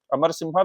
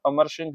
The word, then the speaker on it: अमर सिंह: जो दूसरे महान नवरत्न में से हुए वो है अमर सिंह, अमर सिम्हा भी लिखा रहता है, लेकिन ज्यादा अच्छा प्रोनाउंसिएशन इनका अमर सिंह ही था।